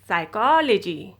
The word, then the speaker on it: psychology: silent letter p is if a word begins with p s or p n then letter p will be silent okay now look at